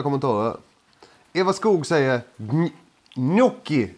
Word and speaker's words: gnocchi: Eva Skog säger, gnocchi uttalas det.